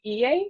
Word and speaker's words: Iye: Today I'm going to be interviewing Iye. That's how you pronounce her name, right?